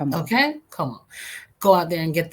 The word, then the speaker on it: Comeau: Como.